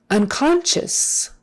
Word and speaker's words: unconscious: or unconscious unconscious un that sc i is an sh kind of a thing oh you becomes like a short you unconscious as if it were spelled s-h-u-s on the end it's unconscious unconscious accent is on the